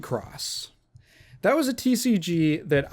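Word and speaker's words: WIXOSS: I always thought it was pronounced Wixos. like weak sauce, but no, it's Wickross.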